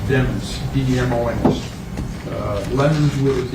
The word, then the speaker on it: Demons: uh I've been mispronounced the defendant's name is pronounced demons d-e-m-o English uh lens with a d is